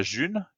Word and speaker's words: G1: Et donc ce pari-là, il a été lancé avec la June, que vous voyez le logo. Donc ça s'écrit G1 et c'est la première monnaie libre de l'histoire.